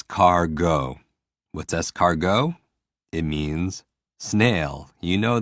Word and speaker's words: escargot: more s cargo what's escargot it means snail you know that for me i hear scar and i hear go or i hear s car go and it's always about